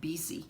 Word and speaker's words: busy: learning English, an example, the word busy, right, is B-U-S-Y. And in my mind, there is no absolutely way that bu can be pronounced as b, because it's boo or bu, but not b.